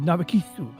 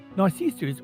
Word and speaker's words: Narcissu: Well, I enjoyed Narcissu. I'm sorry, I'm just saying it like the Japanese pronunciation because, you know, they always put like an extra, what do you call it, syllable after consonants. But Narcissus or Narcissu.